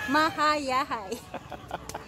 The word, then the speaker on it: Mahayahay: Yeah, it's hard to pronounce. It's like Hayahay, short for Hayahay, so Mahayahay.